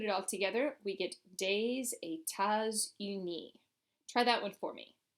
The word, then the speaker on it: des États-Unis: But when we put it all together, we get des États-Unis. Try that one for me. Des États-Unis. Notice that as I'm going through and pronouncing it, we're having liaison between all of those S's.